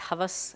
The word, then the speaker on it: Havas: It's not Havas, it's Havas, because people outside have been asking me, how do you pronounce it? And I said it is, if you say it is Havas, it is well Havas,